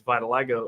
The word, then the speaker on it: vitiligo: You said you got vitiligo.